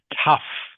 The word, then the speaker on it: tough: This word here, tough. Tough. Tough. Tough. Good. Tough. Good. Just as if it was spelled T U F.